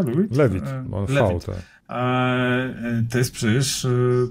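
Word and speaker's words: Levitt: To nie są rejecty filmowe, no bo Gordon-Lewitt, to się tak wymawia, Lewitt? Lewitt, on Lewitt.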